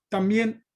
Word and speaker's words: también: También. También, muy bien. Entonces, también es una palabra aguda porque está acentuada en la última sílaba, ¿tá?